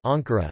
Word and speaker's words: Ankara: Proper names are usually accented on the penultimate syllable as in istanbu, Istanbul, but sometimes on the antepenultimate, if the word ends in a cretic rhythm ux, as in Akaa, Ankara.